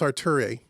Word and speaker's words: Arturia: So I believe it's pronounced Arturia. And they make a series of plugins, and this is one of them.